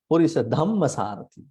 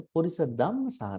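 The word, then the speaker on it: purisadammasārathi: Yeah, those people they pronounce Purisa Dhammasarati. This is incorrect. Not Purisa Dhamma, it's a Purisa Dhammasarati. No, it's no H.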